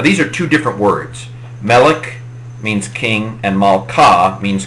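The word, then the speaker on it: מֶלֶךְ: Segelits, a lot of Hebrew words tend to accent the final syllable, but segelits are a particular kind of word that accent the second to last syllable, melech.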